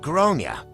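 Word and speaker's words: Gráinne: out that I do not like the name grain for a child nor do I like the way the pronunciation was butchered but I was trying to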